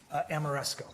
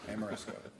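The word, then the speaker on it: Ameresco: Amoresco. Amoresco.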